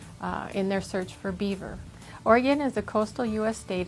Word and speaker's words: Oregon: home state is the state of Oregon it's pronounced Oregon not Oregon if you pronounce it wrong we will gently